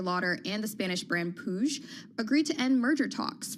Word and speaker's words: Puig: Oh, so that's how you pronounce it, Puig.